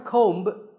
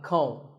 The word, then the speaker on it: comb: Not a comb, a comb. A similar sounding word is tomb. It's often wrongly pronounced as tomb, but the B is silent and the O is pronounced with an oo sound.